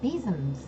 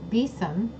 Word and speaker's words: besom: about besan besoms sorry for years I pronounced it best some and then I pronounced it besom and not till just probably in the last four to five months realized its besom with a Z sound for the s veces them it is